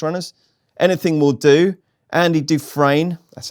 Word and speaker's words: Andy Dufresne: Anything Will Do, Andy Dufresne, that's how you say it, Maddie, Meticulous, Shanroe, Captain Guinness, and the Little Yank.